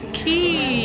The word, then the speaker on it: Quay: It's Quay. Oh, Quay. You pronounce it as Quay.